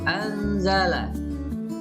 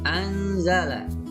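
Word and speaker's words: أنزل: Nun mati bertemu dengan za atau zai, ini dibaca anzala. Sekali lagi, anzala.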